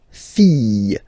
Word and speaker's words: fille: And then the feminine form, the daughter, la fille. Yeah. Okay, so this L here and E will give you the sound Y.